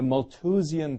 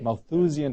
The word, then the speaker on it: Malthusian: with that term have you heard this the mole to Xion trap yes maybe I mispronounced it Malthusian trap that's right and then what happens that's